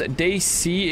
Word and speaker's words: Desi: Pronounced DC, it means South Asian.